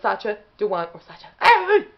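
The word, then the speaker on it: Sacha Dhawan: you just didn't hear me okay yeah so sacha dewan okay the actor who plays the master currently in doctor who in series 12.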